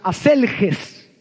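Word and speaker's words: ἀσέλγεια: La lascivia, según el griego, es una palabra que se pronuncia aselges y quiere decir una sexualidad desenfrenada y una disposición para todo tipo de placer.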